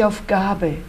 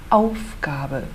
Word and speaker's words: Aufgabe: A pronúncia é Wohnung, no primeiro O. Nada de Aufgabe. A nossa ênfase é no Aufgabe.